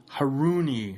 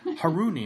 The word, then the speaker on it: Haruni: the Prague enjoy this episode how do you pronounce your last name her Unni I've been practicing that all day and making